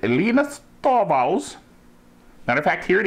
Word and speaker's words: Linus Torvalds: Linus Torvalds. That's the way he pronounces it. Linus Torvalds.